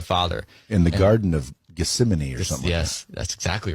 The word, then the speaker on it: Gethsemane: talking to the father in The Garden of Gethsemane or something yes that's exactly right great pronunciation and so Jesus actually said in his